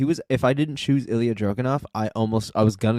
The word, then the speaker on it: Ilja Dragunov: It's Ilja Dragunov, bro. Sorry, I'm not good with pronouncing names, man.